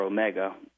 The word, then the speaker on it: Omega: was a case where Omega or Omega or Amiga as James Bond pronounces that you know the watch